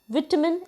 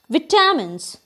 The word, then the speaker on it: vitamin: He lack vitamin and minerals, but what we usually pronounce is vitamins, but it is somewhere incorrect. It is vitamin in actual.